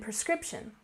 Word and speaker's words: prescription: And prescription. We stress the second syllable, and something funny about English, you'll often hear native speakers say this word as if the spelling was different.